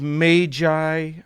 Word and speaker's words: magi: gift of the magi and yes i said magi i want to say magi but literally every dictionary and pronunciation guide i could find says that it's magi of course that's the